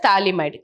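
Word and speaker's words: phthalimide: also called as Gabriel talide synthesis okay so P here is silent we call it as talide clear now the potassium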